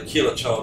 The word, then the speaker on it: Quilotoa: So so on the way back on the Quilotoa, it's pronounced, I'm pretty sure, on the Quilotoa loop, this part of the road is being done.